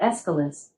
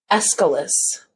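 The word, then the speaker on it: Aeschylus: up our Amazon device I pronounce that escalus but I'm always working on how I say things and I might not have it right escalus Maybe okay got it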